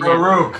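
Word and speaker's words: peruke: is impeccable how about baruch maker p-e-r-u-k-e i'll just go ahead and spell it for you baruch like like excuse me i have to go peru your answer kind of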